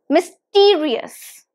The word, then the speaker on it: mysterious: the screen it's mysterious mysterious Miss T re us so it has four syllables myth re us and this test is on the second syllable so it's mysterious mysterious